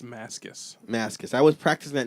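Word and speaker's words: Mascis: Like he was like the guitar player for the night and they said Mascus and I was like so that's how you pronounce it. J Mascus.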